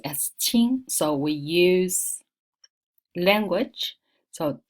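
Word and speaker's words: 青: green or young so but anyway this is pronounced as Ching so we use language so ching-ching is a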